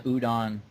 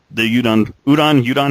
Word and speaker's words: Udon: And the Udon, how is it pronounced? I think it's udon. I think it's like udon noodles.